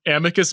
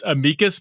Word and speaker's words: amicus: So you recently submitted in Okay, so I was saying amicus brief, but it's amikas brief is the actual pronunciation.